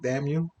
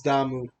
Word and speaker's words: Damu: Damn you. That's funny. That's funny actually. Like my friend Andy calls me "damn you" just to fuck with me, but yeah, it's Damu. Damu. There you Yeah, go, Damu.